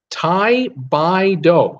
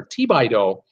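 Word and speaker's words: Thibodaux: Tai Bai Do. It's pronounced, it looks like it's spelled Thibodeau, but it's Tai Bai Do or Ti Bai Do.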